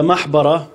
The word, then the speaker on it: محبرة: He said, from the محبرة, it rhymes with مقبرة.